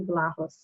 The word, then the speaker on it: Vlahos: And so that said, I'm delighted to be sharing the platform today with Tony Vlahos. Am I pronouncing the last name correctly?